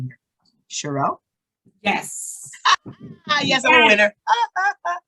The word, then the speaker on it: Sherell: so it's i'm gonna try your name here shirelle yes yes i'm a winner you got it